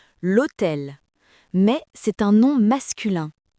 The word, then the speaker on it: l'hôtel: Le mot hôtel, il commence par un H muet. L'article est donc elle apostrophe. On dit l'hôtel mais c'est un nom masculin.